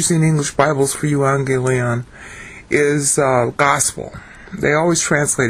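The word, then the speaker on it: εὐαγγέλιον: What I'm doing is I'm searching on euangelion. Two G's are pronounced NG in Greek.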